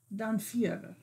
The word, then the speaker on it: Dhampir: Let's talk about, and correct my pronunciation, Dhampir. Dhampir.